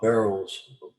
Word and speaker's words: Burrow: How do you feel about Burrows?